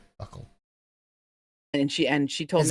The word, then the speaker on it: buccal: And being that vile over the memory size of an iPod Touch, and it's pronounced Buccal. Buckle.